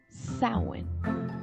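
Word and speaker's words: Samhain: honor of their God sound pronounced sound like a female pig like a sow and it's pretty ironic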